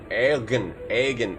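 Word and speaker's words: Eoghan: How do you pronounce E O G H A N Hogan? Egan. Egan. Egan. Egan, right? Egan. It's probably Egan. Silent O.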